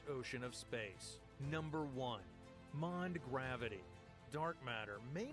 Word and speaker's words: MOND: of space number one mond gravity dark matter may not be matter at all it could just be an unobserved behavior of gravity modified newtonian dynamics or m-o-n-d pronounced mon suggests that galaxies are